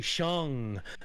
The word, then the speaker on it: Shang: name is Noah, like it's like Shang, right, with the G on the end, like Sean, but G, Shang.